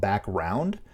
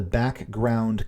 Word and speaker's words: background: people for some reason a lot of people want to ignore the g and just call it back round because you know you